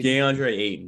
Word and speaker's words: DeAndre: for is the two centers um i i pronounced the center center for the censored name deandre d'andre thank you uh versus steven adams underneath like